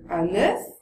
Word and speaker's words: œuf: entre singulier et pluriel on va dire un œuf avec un son ouvert des œufs avec un son fermé pareil avec un œil